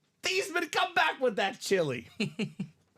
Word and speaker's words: Theismann: It's actually Theismann. Everyone's been living a lie, Dom. So proper pronunciation is not Joe Theismann, not Joe Theismann. It is Joe Theismann.